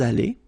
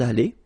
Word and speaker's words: allés: Nous sommes allés. You don't pronounce it. Okay, but you write it. Nous sommes allés.